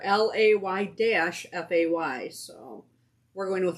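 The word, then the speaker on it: Laufey: Leify. Yeah. Which is? They have it spelled out right there. LAY-FAY. So we're going with Leify.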